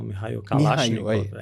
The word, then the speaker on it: Mikhail Kalashnikov: O Mikhail Kalashnikov. Aí agora a pronúncia é certa.